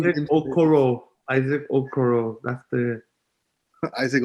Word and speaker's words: Okoro: If we don't get 2 games, Isaac Okoro. That's the Isaac Okra. Okra. No, it's not Okra. It's Okoro. No, I was talking about is that the vegetable?